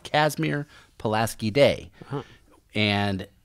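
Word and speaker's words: Casimir: found out why he was his name was kasmir but it's spelled k not like the um and not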